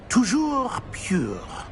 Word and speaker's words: Toujours pure: Toujours pure.